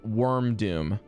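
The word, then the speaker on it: Wyrmdoom: And then the second one is called Wormdoom. And worm is spelled like the worm for dragon. W-Y-R-M.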